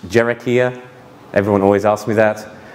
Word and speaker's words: Hiera: Cherokee r dot IO as the website it's pronounced Cherokee ax everyone always asks me that naming things a